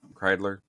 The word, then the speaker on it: Kreidler: I pronounce his name right, Kreidler. Kreidler.